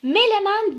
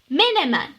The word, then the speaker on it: Menemen: yaptığımız kelimelerden bir tanesi gerek telaffuz ederken gerekli yazılışında melemen değil sevgili çocuklar l ile değil ne ile N harfi ile Menemen Evet doğrusu Menemen değil